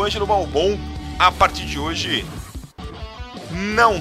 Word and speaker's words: Balbão: Ó, mandou com acento, ele pronuncia Balbão.